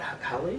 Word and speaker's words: Halle: But did I pronounce that right? Halle?